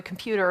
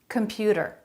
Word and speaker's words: computer: the telephone from the computer or whatever they did with him computer computer they're all saying that with a flap comput a flap instead of a t sound computer middle syllable stress if you can add